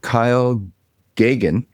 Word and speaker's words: Geoghan: We have Kyle Gagan with us, the CEO and co-founder of Indem AI.